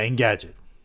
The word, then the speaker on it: Engadget: Yeah, Engadget.